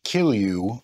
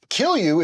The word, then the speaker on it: Kilju: the J is pronounced like a Y. All right, so for a while now, we have made a couple of different Kilju brews, and our Finnish